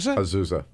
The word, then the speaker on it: Azusa: is that right yes that's why they call it Aza Aza A to Z in the USA it's spelled Azusa AA well two polling places